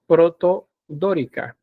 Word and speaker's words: protodórica: Y el nombre de esta es protodórica. No, espérame, ahí hay un error hay una sílaba que se repite.